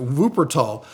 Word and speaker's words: Wuppertal: How do they pronounce it? Wuppertal.